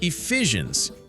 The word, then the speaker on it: Ephesians: Next is Ephesians. Let's spell it out. E-P-H-E S I A N S.